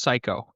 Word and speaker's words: Cayko: It's Well, it's actually pronounced psycho, and that's okay.